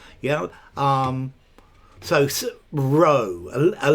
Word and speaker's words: Rho: So row, a letter.